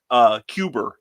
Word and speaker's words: Cuba: So Cuber. That's how the Kennedys pronounce it, Cuber.